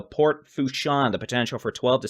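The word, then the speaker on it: Port Fourchon: above ground level and apparently it is pronounced port fuchson so port fusion the potential for 12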